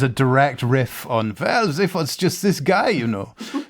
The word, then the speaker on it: Zaphod: So in 6 we've got, I'm going to say it wrong, but Zaphoid Beeblebrox. Zaphod.